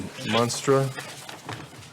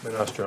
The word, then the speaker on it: Monastra: Number 7, Monstra Residence, steep slope permit. Did I mispronounce that? Monastra, I'm sorry. It's misspelled on my notes.